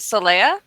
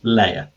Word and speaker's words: Leia: you pronounce your name I was pronouncing it Celia oh no I actually did check this with you when we were um typing about it l-e-i-a sir layer there we go cool